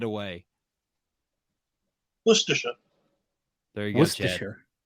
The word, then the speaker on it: Worcestershire: Worcestershire. There you go, Chad. That's easier than how we say it. I had like 14 syllables in there.